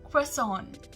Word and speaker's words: croissant: Croissant. Croissant. Now, croissant is a French item and therefore its name is delivered from France. So the British pronunciation, that is croissant, is closer to the French pronunciation.